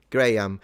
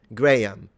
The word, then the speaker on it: Graham: In either case, I don't pronounce the second H. Right. Graham.